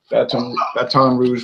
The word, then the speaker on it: Baton Rouge: Baton Rouge, Red Stick. Baton Rouge, like Justin Wilson used to pronounce.